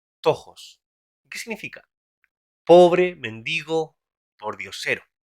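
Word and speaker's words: πτωχός: Vamos a ir a la palabra en griego que abres ahí, ahora en pantalla, que se pronuncia tojos.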